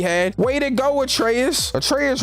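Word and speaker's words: Atreus: way to go atraeus atraeus rhymes with betrus cuz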